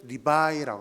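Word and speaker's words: 礼拜: 중국어 발음으로는 리바이라고 합니다.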